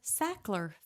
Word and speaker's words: Sackler: Back in 1996, the Sackler family, I wanted to make sure everybody knows how to spell that, s a c k l e r.